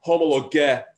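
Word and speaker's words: homologeo: which is homologo so if you want to really put the emphasis on the right syllable it would be homologo cool so homologato that's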